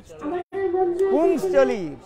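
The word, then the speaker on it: पुंश्चली: पुंसचली, PUNCHALI, पुंसचली। क्या बोला, पुंसचली, उच्चारण ठीक नहीं करते अर्थ अलग हो जाएगा।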